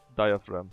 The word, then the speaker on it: diaphragm: that fin boy O the famous silent G of the English man. Anyways, diaphragm. Yeah, that makes it easier to say like that.